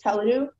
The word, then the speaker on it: teledu: The only pronunciation is Teledu.